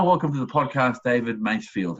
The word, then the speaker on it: Masefield: surname correct it is is it mass field or mace field base field oh okay i did get it right first time or that there's there's